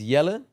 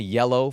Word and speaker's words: Jelle: So, my name is Yellen. Uh that's my real name. Uh but I'm Dutch. So, many people that don't speak Dutch very like struggle to pronounce it.